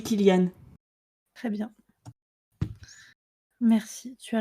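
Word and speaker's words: Cillian: Murphy ça me but est-ce qu'on dit Kanan Murphy je sais qu'il a une bonne façon une mauvaise façon de le prononcer je sais jamais la quelle c'estçante c'est possible oui monsieur c'est les prénom attends je vais taper Kyan Murphy say his name ah c'est lui il doit être il doit savoir comment dire son nom il dit que ça se dit Kilian très bien merci tu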